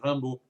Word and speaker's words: Rimbaud: bueno, uno de los, o Rimbaud, ¿no? Que sería en francés un poquitín mejor pronunciado, que es para muchos uno de los fundadores de la... La I se pronuncia A en francés, Rimbaud.